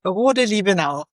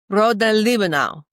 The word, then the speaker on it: Rohde-Liebenau: We pronounce it Rohde-Liebenau. Rohde-Liebenau.